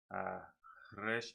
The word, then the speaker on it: resh: A resh then is written, and it is as it is pronounced, resh and shin, resh.